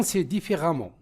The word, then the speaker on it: différemment: Bon les fautes différen différemment le e se prononce a le qui l'article contracté o a au c u au comportement sévère des parents envers.